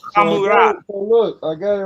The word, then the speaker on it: Hammurabi: And you can say right here, this is a resh, So it would sound like ha. So Hammurabi.